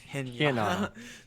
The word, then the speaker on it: Hinata: this whole time I've been rating his name to rhyme with Pinata. Oh yes, Hinata.